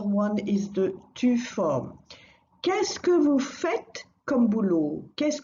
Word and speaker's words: qu'est-ce que: Pronunciation-wise, it's very straightforward. Qu'est-ce que? Two syllables.